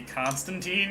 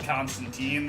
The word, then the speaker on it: Constantine: He's called Constantine. The actual comic book character, though, is pronounced Constantine.